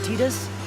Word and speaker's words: Tidus: ball game even though we got the correct pronunciation a few years earlier with kingdom hearts one me and titus we are gonna do a little exploring today